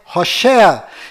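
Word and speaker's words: Hoshea: mudou para Josué mas a pronúncia correta de Oséias é hosa e quando Moisés mudou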